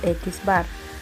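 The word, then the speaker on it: x̄: media se expresa con x que se pronuncia x bar si los datos son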